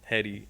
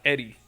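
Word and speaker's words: Hedi: I'm like, "Yeah, I fuck with Hetty," and he's like, "It's pronounced Eddie."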